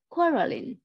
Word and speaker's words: quarrelling: quarterly yes and yeah the stress is on the first syllable quarrelling quarterly non-korean quarterly yeah